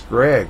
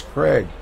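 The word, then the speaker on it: Graig: It's Greg. I always thought it was Craig.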